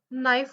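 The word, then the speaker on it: knife: म्हणजे के एन आय एफ कई नाही होत नाईफ होत केला उच्चारायचंच नाही सो के सायलेंट सो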